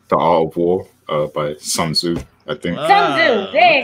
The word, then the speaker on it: Tzu: Yeah, the opportunity creates chaos creates opportunity is actually an old general saying by Sun Tzu. I mispronounced that.